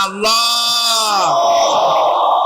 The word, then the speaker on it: আল্লাহ: আল্লাহ পাকের নাম হচ্ছে আল্লাহ মুখটা একটু গোল হয়ে যাবে বলেন আল্লাহ আল্লাহ পৃথিবীতে বিভিন্ন